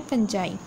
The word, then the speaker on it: fungi: इसके spelling FUNGI, इसे आपने फंगी नहीं पढ़ना, ये आपको इसे इसकी प्रोनाउंसिएशन क्या है, फंजाई।